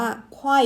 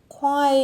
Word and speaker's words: choir: ตัว นี้ นะ ฮะ ออก เสียง ว่า ควาย เอ้ย ควาย เอ้อ เนี่ย ออก เสียง 2 พยางค์ ควาย เออ ใช้ อยาก